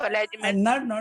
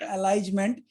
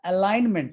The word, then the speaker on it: alignment: meaning of alignment? Not alignment. It is alignment. ALIGNMENT. Yes, sir. Alignment. G silent है.